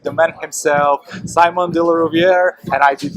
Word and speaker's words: Rouviere: My name's Simon, as you said, de Rouviere, you pronounced it correctly.